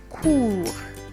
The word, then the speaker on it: cours: Why don't you try and pronounce it? Let me hear. And then we have cours.